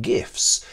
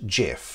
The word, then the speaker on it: GIF: create your own animated gifs or gifs however you pronounce it using Microsoft PowerPoint I'm not gonna offer any apologies despite the fact that I'm English for pronouncing it gif not Jeff so I hope that